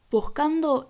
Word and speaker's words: buscando: Buscando es una palabra grave que no lleva tilde porque termina en una vocal. Buscando. Al agregarle una sílaba al final, desplazamos el acento hacia la tercera sílaba de atrás hacia adelante, lo que significa que pasa a ser una palabra esdrújula.